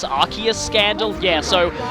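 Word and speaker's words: Arceus: like how the whole arus arus Scandal yeah so Pokemon Battle Revolution says arus the anime says arus I still prefer arus because that's closer to the Japanese and that's another thing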